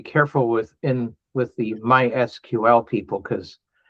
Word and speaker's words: MySQL: with in with the MySQL people cuz my instinct is to just say my SQL cuz well that's three syllables instead of four.